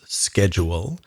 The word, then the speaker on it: schedule: in pronunciation such as the word that's spelled e s-c-h-e-d u l e which in america we would pronounce schedule and in britain you would pronounce how schedule right so there are